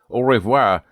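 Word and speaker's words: au revoir: Note to educators, orvoir is a popular way to bid goodbye to someone when you are going to see them sometime soon.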